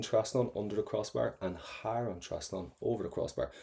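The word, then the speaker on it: thar: And again, don't pronounce that T, har, because it's got a H.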